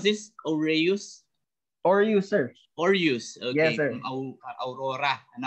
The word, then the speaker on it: Aureus: How do you pronounce this? Aureus? Aureus, sir.